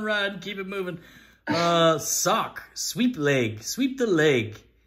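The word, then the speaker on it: Sawk: Like Hawk, but Sock with an S. Hawk with an S.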